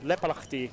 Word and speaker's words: Leppalahti: Was that my Finnish pronunciation good there? Leppalahti is perfect. Yeah, Leppalahti is perfect. Finnish and Estonian is kind of similar, but the difference is Estonians would say Leppalahti. Yeah. But in Finnish it's a Leppalahti.